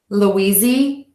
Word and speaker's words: Louisiana: short ah oui Z and Louie Z Ana Louisiana Louisiana Louisiana Louisiana Louisiana Louisiana really nice one here super easy breezy one syllable Maine the state is pronounced exactly the